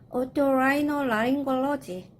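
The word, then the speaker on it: otorhinolaryngology: 이비인후과는 오토라이노라링골로지, 오토라이노라링골로지. 자, 어렵다면 오토 끊어야 되겠죠? 라이노 끊습니다. 그리고 이 연결모음은 어근과 어근이 있을 때 붙는다 그랬죠? 이 연결모음도 또 어근과 어근이니까 사용한다 그랬어요. 오토라이노라링골로지 이렇게 읽으시면 되겠습니다.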